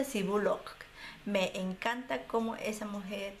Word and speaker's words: Bullock: Sandra Bullock se pronuncia así, Bullock.